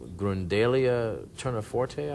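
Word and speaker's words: Grundelia tournefortii: Now there was I was reading that there's a pollen on the shroud that Uri Baruch has verified as being from Grundalia terniforte, I believe is how you say it.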